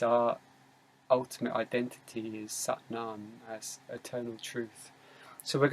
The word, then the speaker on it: Sat Nam: kundalini yoga it's called satnam sat is s-a-t but it's pronounced like the a it's like ah so it's like sat